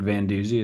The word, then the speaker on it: Van Duzee: My name's Patrick Van Duzee, is how you pronounce that.